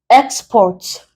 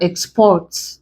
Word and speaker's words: export: So, in giving example of verbs, export as a noun, you can now have export.